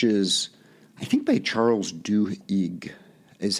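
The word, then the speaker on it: Duhigg: Habit uh which is I think by Charles du EIG is how you pronounce his name uh it is a fantastic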